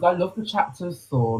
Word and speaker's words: Saul: Saul, Saul. Saul. King's, is it King's Saul, Saul? like Paul in it, but Saul.